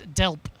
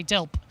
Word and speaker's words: DELWP: a mouthful de lwp I've been told reliably it's dealt you silent W you just say dealt so it is the